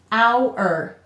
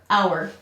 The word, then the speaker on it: hour: our chair and so this silent h distinguishes these two homophones words that sound alike it helps to show